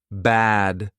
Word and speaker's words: bad: makes a huge difference bad versus bed two completely different words again if you mess it up if you forget to open your mouth people will probably guess the meaning of the word just from the context but you know sometimes the context is also confusing and you don't want to confuse people too much all the time so open your mouth bed versus bad bed bath pack versus